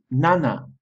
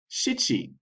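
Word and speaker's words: 七: rocker rocker seven is Nana Nana seven also has an alternative pronunciation and depending on the context context sometimes you will say nana and sometimes you will say shii Shi the word for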